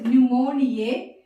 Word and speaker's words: pneumoniae: The P is silent.